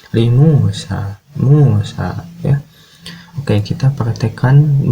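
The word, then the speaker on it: موسى: Kemudian Musa juga sama, di bagian belakangnya ada alif maksurah, berarti sinnya dibaca panjang. Li Musa, Musa ya.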